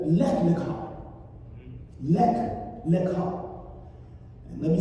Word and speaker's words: Lech Lecha: Lech Lecha. And let me spell that word for you.